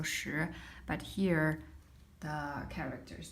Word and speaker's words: 时: Well, it is actually the same as pronunciation for the number 10. It's also 时, but here the character is different.